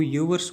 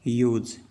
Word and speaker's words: yours: YOURS को ज़्यादातर विद्यार्थी जो हैं वो योवर्स बोलते हैं, तो ये योवर्स नहीं है, इसका करेक्ट प्रोनाउंसिएशन है वो है योज।